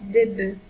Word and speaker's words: bœufs: Et il faut faire attention à la prononciation de noms qui changent, comme un œuf qui se prononce au pluriel des œufs et un bœuf qui se prononce des bœufs.